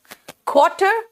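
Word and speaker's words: quarter: आर last में आता है तो वो एकदम सॉफ्ट हो जाता है या साइलेंट हो जाता है, क्वार्टर। क्वार्टर अगर बचा हुआ है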